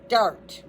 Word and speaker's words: Dart: During the 1930s, a researcher named Raymond Dart, Raymond Dart, D A R T D art, like art dart, examined a small skull.